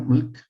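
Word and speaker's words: מלך: se mete ahí Bueno moloc aquí está en hebreo Milk así se pronunciar se trata de una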